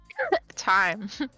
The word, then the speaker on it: Thyme: Thyme, like the spice. Time. Thyme. It says thyme. Yeah, it's pronounced time though.